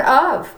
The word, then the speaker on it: of: So those sight words are the words that are spelled a little unusually, and so like the word of, O-V is how it sounds, but it's spelled O-F.